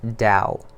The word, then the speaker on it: Tao: tea eh oh alright but it's pronounced Dao and it really talks